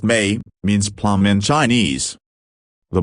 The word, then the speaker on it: Méi: And, she concluded, M8 copyright pronounced Mei, means plum in Chinese.